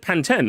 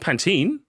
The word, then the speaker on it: Pantene: Yeah, it said Panten. That's how you say it. Not Pantene.